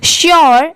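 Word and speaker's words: sure: ये है made M ए डी E made श्योर एस यू आर ई श्योर बहुत सारे लोग इसे सर पढ़ते हैं बट ये रॉन्ग होता है।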